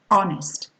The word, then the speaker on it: honest: You're not going to say honor, you're going to say honor, honest, honesty, air, heiress, hour, See, we can't hear, I mean, we mustn't hear the H pronounced here.